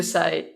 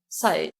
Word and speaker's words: Sai: Thank you, Sai. It's still pronounced like Sai.